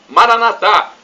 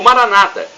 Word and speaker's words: Maranatá: E do aramaico, dialeto de Jesus, eu clamo, Maranatá, como dizemos nós católicos, com a tônica na última sílaba, ou Maranata, como dizem os nossos irmãos separados, os protestantes ou evangélicos, com a tônica na penúltima sílaba.